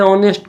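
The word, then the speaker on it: honest: देखिए यहाँ हम उच्चारण करते हैं ऑनेस्ट को तो औ हो रहा है, जो वॉवेल साउंड है, इसलिए एन का प्रयोग किया गया।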